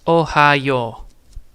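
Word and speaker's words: おはよう: So it's Ohio, and then the U is not spoken out because of the O inside of it. So because there's a OU, it's a long O.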